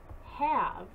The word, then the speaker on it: have: other Oddball was have if you listen to the word have you'll notice that the a does not have a long a sound however the magic e is still there as you sort your